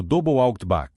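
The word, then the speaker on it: 00 buckshot: O tipo mais comum utilizado pelas forças americanas era o zero Bookshot, pronunciado double out.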